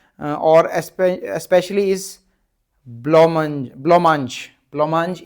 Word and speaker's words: blancmange: चौसर उसको बहुत प्रेज करता है, और स्पेशली इस ब्लोमांज, ब्लोमांज इसकी प्रोनाउंसिएशन है, लिख देता हूँ वर्ड, है ना।